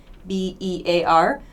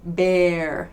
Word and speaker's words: bear: ea but be careful not all words spelled with ea are pronounced with a long e sound for example bear b-e-a-r that's pronounced bear bear so heat is